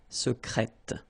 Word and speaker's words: secrète: Secret, secrète. Okay, you're pronouncing the T.